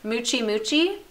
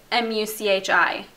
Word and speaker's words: Muchi: And this one is called, now I'm gonna say it how I think it's pronounced. I'm not really sure. Muchi. I'm pretty sure that's how you would say it. It's M-U-C-H-I. Muchi. That's what I think.